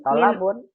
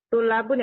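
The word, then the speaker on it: طلاب: Tolabun. Enggak ada tolabun. Tulabun ya Ustaz?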